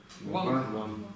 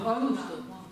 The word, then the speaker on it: དབང: И вот это как читается? Ван. Ван. Точно? Все уверены? Не ан? Ван. Вы помните, что это у нас исключение?